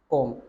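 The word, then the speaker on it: comb: Game, कॉम, कोम। देखो कोम्ब ये जो है ना बी, ये वैसे तो इसकी प्रोनाउंसिएशन कॉम ही होती है, ठीक है ना, ये हमें सेंस लगानी है।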